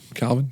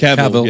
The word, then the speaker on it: Cavill: Calvin? Is that how you say his name? Warhammer? What is it, Played- Cavill? played- Cavill, yeah. Cavill. Damn it, Skip.